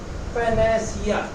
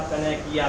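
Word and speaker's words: panacea: पैनेसिया। पैनेसिया कहो या पैनेकिया कहो, स्पेलिंग ये है, पैनेसिया।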